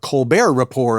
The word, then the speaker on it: Colbert Report: So So the one of the notable things about Colbert Report, of course, is the silent T at the end of both of those words.